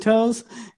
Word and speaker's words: To: And the thing is, it's spelled T-O, but then like when you pronounce it in Vietnamese, it's a toe, but like without the E.